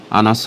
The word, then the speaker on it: আনাস: এবং আরো দেখুন ফেক চ্যাটে তারা আনাস নামে একজন ভাইকে মেনশন করেছে আসান নামে। কিন্তু নামটি আসান নয় আনাস হবে। শব্দগুলো আরবি হওয়ার ফলে এ সকল হিন্দুত্ববাদীরা সঠিক উচ্চারণটিও সঠিকভাবে করতে ব্যর্থ হয়।